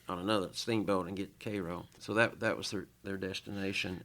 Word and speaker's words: Cairo: So these men eventually they were on their way to Cairo, Illinois. That was the destination of the Sultana. A lot of people way spelled want to say Cairo, but the locals say Cairo.